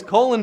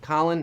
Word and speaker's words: Colin: Colin. That's how you pronounced his name. Colin? No, Colin.